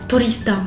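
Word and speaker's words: トリスタン: Ça rend Toristan. 5 syllabes. Toristan.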